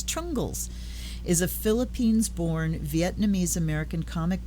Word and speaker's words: Trungles: And So they take the trung and the le and put it together into trungle and add an S. Trungles is a Philippines-born Vietnamese-American comic book artist and illustrator.